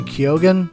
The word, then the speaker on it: Keoghan: And Barry Keoghan, I think is how you pronounce his name.